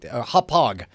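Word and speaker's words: Hauppauge: a hodge I think hophog that's what it is it's hog it's a hard g at the end hog hog win TV dual HD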